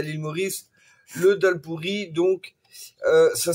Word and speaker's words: dholl puri: à l'île Maurice le dalp pourri. Donc euh ça s'écrit Doll DH O2 L et plus loin P U R I mais ça se prononce dalle.